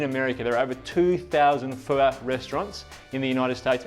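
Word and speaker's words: phở: And it's not pho, it's pho. I'm getting better. He's teaching me how to say it.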